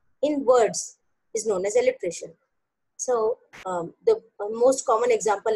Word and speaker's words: alliteration: Alliteration. Yes. Pronounce it properly, because if you pronounce it alliteration, you will write it A-L-L-I-T-R-A-T-I-O-N. However, it is alliteration, that is A-L-L-I-T-E-R-A-T-I-O-N.